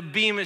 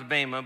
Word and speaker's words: bema: you've ever been to actually pronounce BMA but a lot of you say Bea so I'm just joining you but if you've ever